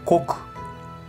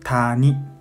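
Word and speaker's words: 谷: Y para decir, no, para pronunciar, onyomi pronuncia kok, kok, ku. Y también ya, ya. Kunyomi pronuncia tani, tani.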